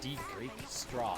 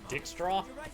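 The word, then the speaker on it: Dijkstra: It's pronounced Deek Straw. Come on, Roach. Deek Straw. Dick Straw?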